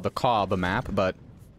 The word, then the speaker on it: Kaub: This is called the KAUB map, but in German, I'm pretty sure it's pronounced Ka. The B is silent.